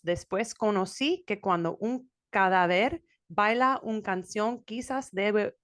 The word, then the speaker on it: cadáver: conocí que cuando un cadáver baila una canción, quizás debe uno considerar la falta de ritmo de cadáver. Okay. First of all, you're putting the emphasis on the wrong syllables.